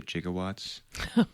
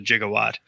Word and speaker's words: gigawatt: a gigawatt not a jigawatt but it you know in the 1980s it was actually there was an alternate pronunciation of it as jiga so it wasn't like